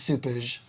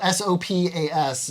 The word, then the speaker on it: sopas: the recipe for Portuguese soupage. And it's spelled S-O-P-A-S, like the English translation, so you think it'd be sopas. Yeah, but there's like an H in there that doesn't exist, but you say it.